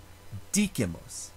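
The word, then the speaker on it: dicimus: However, the word Dikimus, we speak, has a short vowel in the second to last syllable, and that short vowel is followed by only one consonant, that letter M. Therefore, you cannot place the stress on the second to last syllable. It has to go forward to the third to last syllable. Dikimus, not dikimus.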